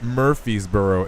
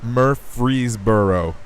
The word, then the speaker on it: Murfreesboro: not making this up it's not Murphysboro it's Murphy's Borough Tennessee Murfreesboro how many times that